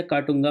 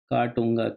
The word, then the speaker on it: Katunga: ये है काटूंगा प्लेटू, याद रखना। इससे 2 नदी निकलती है, एक नदी इसके बाद आएगी, काटूंगा, KATUNGA, काटूंगा प्लेट्यू, ठीक है?